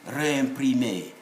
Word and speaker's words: réimprimé: We should pronounce it as réimprimé, and then said.